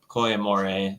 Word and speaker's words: Koi Amore: Technically, it's a Koi Amore. It's Italian word for love. Is the technical pronunciation is a, but pretty commonly said that way, and it's not a problem.